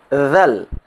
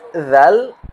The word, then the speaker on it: ذال: Huruf dhal. Huruf dhal diucapkan dengan menyentuh ujung lidah ke tepi gigi seri depan atas .